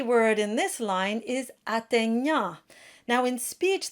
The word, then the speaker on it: atteignant: And then the tricky word in this line is atteignant. Now in speech, that GN is pronounced by sort of closing the back of the throat, but in singing, it's good to bring things forward.